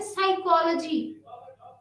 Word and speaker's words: psychology: PNEUMATIC pneumatic और PSYCHOLOGY हम पढ़ते हैं साइकोलॉजी, P को नहीं पढ़ते।